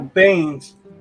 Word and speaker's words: Baen: Oh, Baines. Like Jim I don't Baen? know. Yeah, I don't know exactly. I just pronounce it the way I hear it pronounced, and I've heard it most often pronounced Bain.